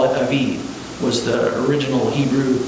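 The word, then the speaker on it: אביב: And they probably, a lot of times, will pronounce the V with a B, so you don't know, Abib, you know?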